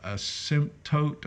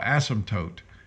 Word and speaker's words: asymptote: technical word for that a sim tote i think it's let me hear hold on let me click on it asymptote oh asymptote i knew i was saying it wrong all right asymptote so